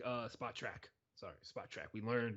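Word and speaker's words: Spotrac: did some quick stuff on here thanks to spot rack uh spot track sorry spot track we learned how to say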